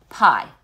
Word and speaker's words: pi: It looks like this, and it's pronounced pi. Okay? You say it just as if it was a slice of apple, right?